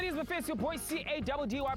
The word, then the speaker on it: Caddy: Your boy C-A-D-D-Y pronounced Caddy, yet on another mission, Buffets, running the streets of Mzanti.